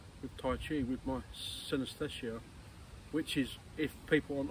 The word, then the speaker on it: synesthesia: I was diagnosed with also a sensory condition called synesthesia. Some people call it, also pronounce it as synesthesia.